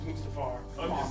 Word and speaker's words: Mustafar: I was like, it's Mustafar, right? And I Yeah. looked it up. I was like, I'm right! Of course it's Mustafar.